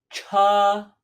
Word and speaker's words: 车: Next, 车. 车, meaning car or cart or wagon. 车. Now note this is distinguished and very different from the pronunciation for to eat. 吃. This is 车 with an 车.